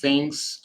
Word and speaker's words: things: Vejamos aqui alguns exemplos em contexto, comparing places, things and people. Comparando aí pessoas, lugares e coisas. Things. Esse G não pronuncia. Things, que nem magro, pronuncia igual things.